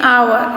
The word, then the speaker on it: hour: here A and N, hour, H-O-U-R, hour, and R is pronunciation of O, H we cannot hear, it is silent, so it is an R.